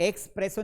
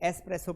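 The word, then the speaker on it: espresso: इसको एक्सप्रेसो नहीं पढ़ते हैं। एसप्रेसो पढ़ते हैं।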